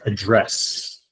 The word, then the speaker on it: address: Also notice here this word, if you're paying attention, The way I pronounced it is address. And address has the accent here. When you say address, this is a verb.